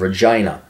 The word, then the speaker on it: Regina: Andrew James Scheer is a Canadian politician serving as a member of parliament for the riding of Regina, rhymes with fun, since 2004, and as leader of the Conservative Party and leader of the official opposition since 2000.